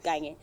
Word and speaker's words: Kanye: That one is pronounced Kanye.